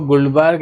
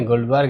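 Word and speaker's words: Guldberg: कुछ लोग इसको गुल्डबर्ग एंड वागे कहते हैं, कुछ लोग इसको गुल्डबर्ग एंड वेज कहते हैं। तो बोलने का अलग अलग तरीका हो सकता है।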